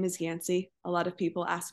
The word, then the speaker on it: Yanci: Instagram is aore yanci 11 last name is yansy a lot of people ask me how that is pronounced and then I also have a business page which is just Optimal wellness.